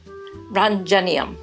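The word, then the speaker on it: roentgenium: this is one I've always struggled in its pronunciation run genium I love that I love that so you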